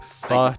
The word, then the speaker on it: pho: I mean, pho's nice. Well, pho's nice. It's pho, right? Not pho. But I'm- it's spelled pho, so it like baits you.